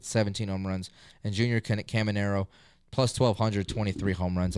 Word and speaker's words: Caminero: Jr., and then Junior Caminario. Caminario, yeah. That's why I thought it was just the way how it's spelled is weird. No, Caminero.